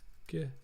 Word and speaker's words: GIF: And it's pronounced GIF, not GIF, all right, chat? Don't pull a voodoo vowel and say GIF.